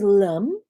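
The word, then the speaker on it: Lam: your first chakra sound the sound is lum and it rhymes with the so it's a schwa so let's do that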